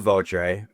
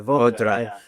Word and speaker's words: Votre: It is pronounced vote, I believe, in French. Votre. So if you are French, there's the correction there.